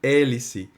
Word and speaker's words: hélice: Mesma coisa, hélice. O H é mudo, então o HE produz um som só.